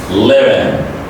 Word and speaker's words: living: Living, because the final G is an important this word, so we pronounce it as living.